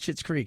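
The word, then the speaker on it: Schitt's Creek: have to say that it's called shit's creek it's not it's not a bad word the way it's spelled s-c-h-i-t-s that's the name of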